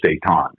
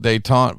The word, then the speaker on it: Detente: was like Hey we're we're gonna call this dayon right it's like okay name's a name right